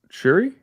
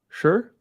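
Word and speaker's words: Shure: I don't think you're supposed to pronounce the E in sure. Oh, is it Shuri? Sure. Yeah, I think it's sure. I think it's just sure.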